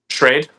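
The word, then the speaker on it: Schrade: Shade.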